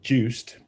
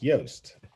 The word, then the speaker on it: Joost: i pronounce your name because literally every english english person that sees my name says juiced and well that's not my name because my name's yost and so i pronounce it again for him and he goes oh so it's toast with a y and i was like